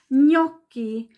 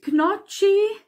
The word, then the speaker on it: gnocchi: hört ist zum Beispiel Gnocchi merke dir wird wie ein NJ ausgesprochen in der Lautschrift GN wird immer wie ein NJ ausgesprochen Gnocchi also nicht Knutschi oder ich weiß nicht